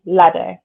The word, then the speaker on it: Ladau: Demystifying Disability, What to Know, What to Say, and How to Be an Ally by Emily Lado, which is spelled Ladau.